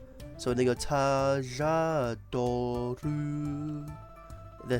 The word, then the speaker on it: Tajador: I say Tajador because it's Taka Kujaku Condor, but I've heard people say Tajador, because technically I think it's how the Japanese pronounce L's or something, where it sounds more like an R in English, but it is supposed to be an L.